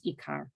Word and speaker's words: ikar: in hebrew in the in modern hebrew way you pronounce it is ikar they explain that that